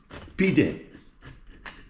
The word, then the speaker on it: pide: Pide, the way to speak in Turkish.